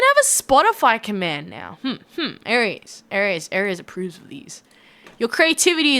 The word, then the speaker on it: Aries: Aries is spelled as in the horoscope Aries. So I'm horoscope Aries. But I do know a lot of people think Aries sounds like the war god Aries.